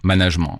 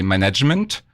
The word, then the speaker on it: management: avec le mot management dès lors que on le prononce management en revanche si vous le prononcez management cela veut dire que